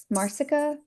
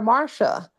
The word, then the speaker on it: Marsica: So I usually get Marsica Oh, Yep. okay. or Marcia. But anyway, yes, it is Marsica.